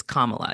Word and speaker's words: Kamala: they do because it's not that difficult it's Kamala it's not that difficult but Camala camela like